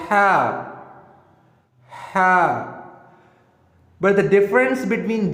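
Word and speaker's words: ح: Now, how we can pronounce ha? You have to make sound from your throat. Ha, ha, ha, ha.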